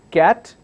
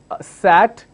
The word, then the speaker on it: cat: with a cur sound cat the other one starts with a sound city we don't say sat and kitty if we have to